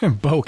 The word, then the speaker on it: Bokeh: mentioned the visual database Boake I think if that's the only wrong pronunciation bouck it's not foci okay that's fine yeah